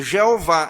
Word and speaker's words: Jeová: E então, eles pegaram as vogais de Adonai e aplicaram a esse tetragrama Iavé. E aí surgiu a pronúncia conhecida, Jeová. É errado? Não, não é errado. Né? Mas nós sabemos que não é o que estava lá originalmente.